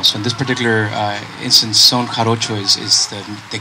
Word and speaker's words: Son Jarocho: I read that you had studied, is it Son Jarocho in Mexico? Yeah, it's pronounced Son Jarocho.